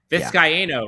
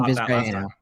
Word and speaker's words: Vizcaíno: Vizcaíno, right? Is that we pronounce it 4 syllables? Tristan Vizcaíno.